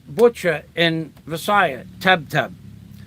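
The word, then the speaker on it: tebteb: said how do you say butcher in visaya tab tab spell it t-e-b-t-e-b okay now I know tab tab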